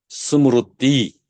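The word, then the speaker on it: स्मृति: 요거는 리로 한국 사람들 발음하는데 리가 아니고 르예요. 그래서 왜 르급에다 들어봤어요? 우리 한국에서 공부한 사람들 리급에다라고 그렇게 써버리는데 그 잘못된 표기법이고 르급에다예요. 르 스무르가 어근이에요. 스무르띠.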